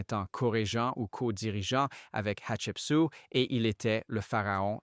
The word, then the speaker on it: Hatshepsut: Ensuite, nous avons sa fille et son nom se prononce Hatshepsut et elle est de 1503 à 1482 avant Jésus-Christ.